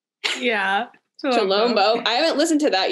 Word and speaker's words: Chilombo: Is it Chilombo? Yeah. Chilombo.